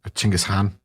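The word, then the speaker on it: Chinggis Khan: and narrow and uh genghis khan's ching is han if you want to give the user pronunciation or closer to the correct pronunciation uh his mother told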